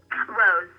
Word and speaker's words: RoZe: And how is that pronounced? Rose.